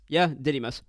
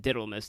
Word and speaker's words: Didymus: It is called Didymus.